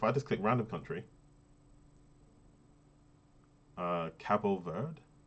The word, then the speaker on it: Cabo Verde: So location, Cabo Verde, pronounced Cabo Verde, as it looks basically.